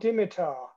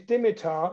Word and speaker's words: Dimitar: introduced himself by saying my name is Dimitar like the foot he knew I think he knew I was a football fan like the footballer deal batov and I've never forgotten